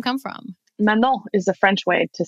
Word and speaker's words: Manon: Manon rhymes with Tamin. And salmon and contamination.